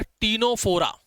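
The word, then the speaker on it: Ctenophora: तीसरा है यहां पर टीनोफोरा। टीनोफोरा सी उसके अंदर साइलेंट है। यह तो आपको पता ही होगा।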